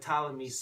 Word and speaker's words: Ptolemy: his successor was but ptolemy's soleter or ptolemy soteri because the p is silent so terry means savior